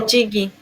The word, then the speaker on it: Tochigi: Now, let me get the full name correctly because I mean, how do you pronounce Tochiji? Aisha Tochiji? Yes, Aisha Welcome, Tochigi.